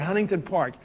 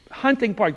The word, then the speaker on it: Hunting Park: If you look up on the street sign, it says Hunting Park. Hunting Park. There's 2 syllables, but everybody says Huntington Park. But you look at the sign and you still say Huntington Park.